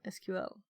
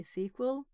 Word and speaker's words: SQL: I could just have one called SQLi and one SQL.